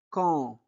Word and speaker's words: quand: Quand Pierre, quand Pierre, A-N se prononce en. On ne prononce pas D. D'accord? D est muet.